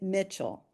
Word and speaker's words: Michel: And her name happened to be the same as mine, Hedwig, but she pronounced it Mitchell.